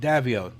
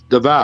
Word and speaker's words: Davao: Oh, I am going to Wanap and Davio. That's where we live. Davao. Davao City. I always say Davio. Shut. Why Davio? It's like Because that's the way it's it's spelled.